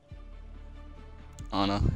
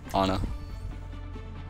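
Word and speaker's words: Ana: as Mercy that game Anna fair fair Anna that's how they pronounce it in game so I I usually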